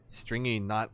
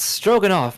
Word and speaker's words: Stroganoff: It's Stroganoff, not Stringy Knot. I don't really blame him for getting the name wrong. Stroganoff is such a very different word compared to like a Japanese word.